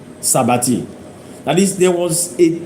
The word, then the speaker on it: s'abattit: Now, s'abattit is spelled S apostrophe A-B-A-T-T-I-T. Sabati.